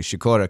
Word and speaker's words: Sikora: ra yes the Cora also in the post pronunciation which I tried to get down with a little bit of shakoora my grandmother would always say shakoora cuz it means to